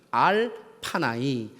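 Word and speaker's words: עַל פָּנָי: 히브리어로 발음하면 알파나이.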